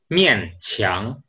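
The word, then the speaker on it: 勉强: Oke, di bahasa Mandarin itu bacanya mian qiang.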